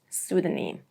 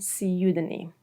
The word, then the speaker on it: pseudonym: Number 1, when the word starts with P, especially with PS, like in psychiatry, psychology, pseudonym, or the more British pronunciation, pseudonym.